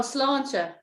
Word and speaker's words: sláinte: Oh, sláinte. It just means your good health. Clanta, C. Sláinte, sláinte, S-L-A-I-N-T-E. S-L-A-I. A-I-N-T-E, with a fada on the A, which is sláinte.